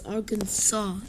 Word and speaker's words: Arkansas: arkansas yes it's pronounced arkansas the last s is silent i've because due to